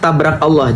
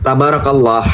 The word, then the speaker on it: Tabarakallah: Masya Allah, tabrak Allah, jangan ditabrak ya. Tabarakallah, harusnya yang jelas pronunciation-nya biar orang nggak salah.